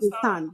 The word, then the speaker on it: Roussanne: Roussanne, yes.